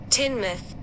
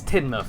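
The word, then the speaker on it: Teignmouth: Tinmouth. Tinmouth. Yeah. Okay. So, it's not Tmouth, it's Tinmouth.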